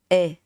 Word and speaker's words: e: The sound is familiar to how you say the A in English. So for example, you have this word may, right? We say may. It has a E sound behind it. But in Vietnamese, you drop the E. Okay? You just say E. It's not A. It's just E.